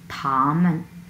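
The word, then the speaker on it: 他们: এবং দে দে আমরা বলবো হচ্ছে থামেন থামেন থামেন থামেন। প্রথম অংশ হচ্ছে থা, আমরা একটু ফ্ল্যাটভাবে উচ্চারণ করবো, থা, লাস্টে মান, থামেন থামেন, লাইক দিস।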